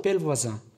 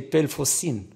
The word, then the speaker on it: Pellevoisin: Heart, cœur, France, comme il y a prié pour la France, et Pelvoisin, Notre-Dame de Pelvoisin. Mais au début, il y avait un problème pour lui de prononciation. C'était Pelfocine.